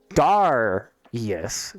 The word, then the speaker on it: Darius: is your character's name which is Darius Darius not dairy I've been pronouncing it wrong it's Darius Khan or cone Hans drummer